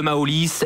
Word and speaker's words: Maolis: les réseaux de de maolis M a o l i s tout simplement comme ça se prononce réseaux sociaux donc sur